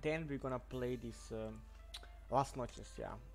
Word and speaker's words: Las Noches: we're gonna play this last Noches. Yeah, finally I pronounced that right. Before, like 2 days, I was always like saying like Lost Noches, you know, like, but yeah, whatever.